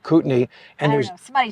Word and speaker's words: Kootenai: That's what it looks like it's pronounced, but trust us, we researched this. It's called Kootenai.